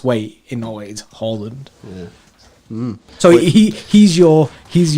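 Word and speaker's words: Haaland: to see his links with is harland yes holland as it's correctly pronounced too fair though in that interview where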